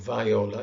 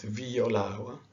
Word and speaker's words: viola: it's an e sound this is not viola it's viola okay the next letter